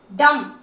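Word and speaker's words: dumb: था आपको यू को अन अकाउंट देना है दम दम अब आप बोलोगे मैं आपने इस साइलेंट वर्ड के बारे में बता दिया की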